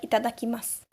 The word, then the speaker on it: itadakimasu: First, I, ta, da, ki, ma, su. Itadakimasu. The reason why the U is in a red color is the alertness, because the U is most likely not pronounced.